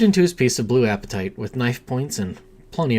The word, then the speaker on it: apatite: Apatite? I think you say it's apatite. Appetite.